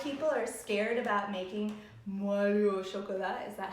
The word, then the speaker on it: Moelleux au chocolat: But the cool thing is I think a lot of people are scared about making Moelleux au chocolat.